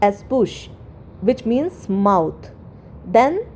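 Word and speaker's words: bouche: ओ यू सी एच ई बट इट is pronounced as बुश which means mouth then the other words word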